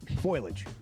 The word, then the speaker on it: foliage: Foliage. Okay. Is it foliage or foliage? It's foliage. Foliage. It's three syllables.